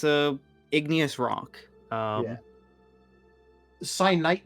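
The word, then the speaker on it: kyanite: Cyanite, not cyanide. But no, that's the thing. Like, I read it as cyanite, but it actually, the proper pronunciation of it is cyanite, which was a little bit too close to, So I was like, yeah, let's not.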